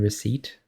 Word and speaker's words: receipt: It's like the same way I used to pronounce the P in receipt, like receipt, and then my friends would be like, "What is wrong with you?"